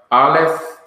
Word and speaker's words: aleph: So you have aleph. Let me get back to a slide that you can have a visual understanding of this. Here are the guttural consonants. Aleph, which is silent in pronunciation.